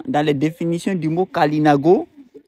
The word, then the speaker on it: Kalinago: Parce que comme j'ai montré à un moment dans les définitions du mot Kalinago, il peut être prononcé Galinago.